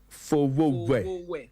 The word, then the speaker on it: Fowowe: Okay, so it's pronounced Fowowe. Fowowe.